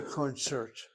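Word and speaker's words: קונצרט: I say concert with the accents really on the second syllable, but the word is a borrowed word, so it's not an issue.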